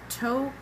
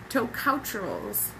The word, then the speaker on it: Tocopherol: The last one was tocouterols, Tocopherol.